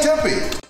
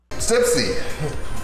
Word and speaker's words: Tipsy: Stay tippy. Stay tippy? He pronounced his own name wrong. Tipsy.